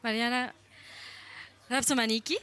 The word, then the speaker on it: Marianna Rapsomaniki: So we're welcoming here today Marianna Rapsomaniki, Thank you.